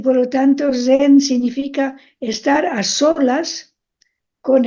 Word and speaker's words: zen: así no Ana María zen es como una s Sonora zen sí es como una Z Sonora como sí zen zen